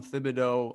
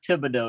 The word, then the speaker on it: Thibodaux: and you're originally from thibodaux louisiana right um that was a good attempt that pronunciation there um it's not good it's it's it's actually pronounced tibido it's it's a hard t oh okay the h